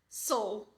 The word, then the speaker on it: soul: É do S pro L, do S pro L. Soul, soul, soul. Estão percebendo? E mais uma vez a teacher vai dizer o quê? Marca esse L. Se não marcar esse L, você não vai pronunciar um som que existe nessa palavra.